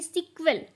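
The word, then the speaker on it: SQL: design की गई थी इसकी जो पहले प्रोनाउंस थी वो क्या थी सीक्वल हम इस इसको सीक्वेल बोलते थे ठीक है अब हम इसको डायरेक्ट एसक्यूएल बोल देते हैं पहले इसको क्या बोला जाता सीक्वेल बोला जाता था एसक्यूएल जो है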